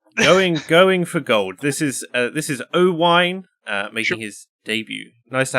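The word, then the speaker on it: Owain: My name is Owine, right? It's a Welsh name, but because people across the bridge can't say it properly, for some reason they can't get the two syllables right.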